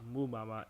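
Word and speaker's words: Mbeumo: Mubama on the top.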